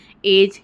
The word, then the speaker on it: edge: जाएगी फ्यूचर में कि जब भी जी के बाद या जी के पहले डी आता है तो वहाँ पे डी साइलेंट हो जाता है। यहाँ पे हमने एग्जांपल देखा है, ब्रिज, एज, हेज और वेज।